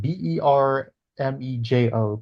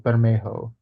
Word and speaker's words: Bermejo: Because I think his Bermejo, family is either Mexican or like Central American in origin. So I think that's how you pronounce his name. Bermejo, Bermejo.